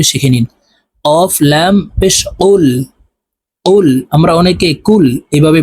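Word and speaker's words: قُلْ: নিন কফ লাম পেশ কুল কুল আমরা অনেকে কুল এভাবে বলে থাকি কফের উচ্চারণ জিহ্বার গোড়া থেকে উচ্চারণ করতে হবে কুল কফ লাম পেশ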